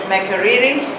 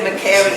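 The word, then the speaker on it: Makerere: we talked about Uganda Makariri. That's the right way to pronounce it, right? Because another student taught me to say Macari, and I don't know what's good.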